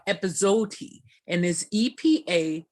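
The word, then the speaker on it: epazote: linguist i believe it's pronounced i win and it's spelled aj i w-a-i-n and then um the other is a mexican device called episode and there's epa z like zebra o t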